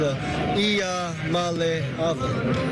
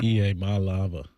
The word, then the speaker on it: Iamaleava: I'm Nico Iamaleava, and the correct way to pronounce my last name is Iamaleava. Iamaleava. Wait, right. say that one more. Let's hear that. Iamaleava.